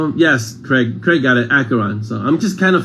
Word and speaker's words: Acheron: how you pronounce acheron as if it were a k so the ch is hard like school so it's acheron not asheron acheron marsha a bite of